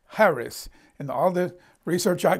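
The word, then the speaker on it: χάρις: um it looks like cheris c-h-a-r-i-s but it's pronounced without the the hard c it's it's harris and most people say carrice or caris it's harris and all the research i can do on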